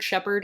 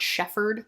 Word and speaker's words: Shepard: So, does anyone ever think that it's weird that we pronounce Shepard Shepard and not Shefford? It is a PH.